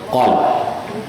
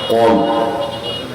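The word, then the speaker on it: قلب: আপনাদের বাম বুকের 2 আঙ্গুল নিচে হৃৎপিণ্ড, এটাকে আরবিতে বলা হয় কল। অনেক বক্তাকেও শুনছি উচ্চারণটা ঠিক করে না, বলে কাল। কাল অর্থ কুত্তা, আর কল অর্থ অন্ত।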